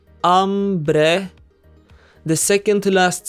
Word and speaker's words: hambre: Hambre has two syllables and ends with a vowel. We must therefore stress the second to last syllable, hambre.